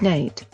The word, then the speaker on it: Nat: Nat, pronounced Nate, Love would grow up to be one of the most famous black cowboys in the Old West.